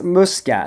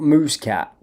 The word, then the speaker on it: Muscat: It's Muscat, not Muscat.